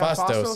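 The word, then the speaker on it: Phastos: Yeah, Fastos, yes.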